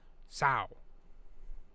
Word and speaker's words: sow: Now pronounce the word for a female pig. Sow.